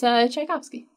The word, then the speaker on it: Tchaikovsky: It's Tchaikovsky. Oh, is that how you say it? But there's a T. It's like a T with a ch, so it's like all a right.